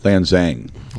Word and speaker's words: Lanxang: We've got Lanxang. Is it Lanxing or Lanxing? Lanxang. It's The neither of those that I just That's said. kind of pronounced like a Z. Lanxang Tactical. Lanxang Tactical.